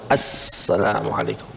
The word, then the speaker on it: Assalamualaikum: tidak kalau salat mesti Assalamualaikum enggak boleh Salamualaikum Assalamualaikum ya pakai alif lam tapi itu Alif lamnya Alif Lam Syamsiah sehingga alnya enggak terbaca langsung Assalamualaikum Assalamualaikum dan itu yang